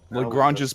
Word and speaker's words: Lagrange: ourselves at a Tavern known as lagrangea's point lagrange's Point did you name it that maybe oh